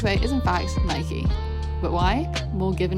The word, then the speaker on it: Nike: way we may think commonly mistaken to rhyme with the english word bike if we're to be exact it should be said like nika because the english pronunciation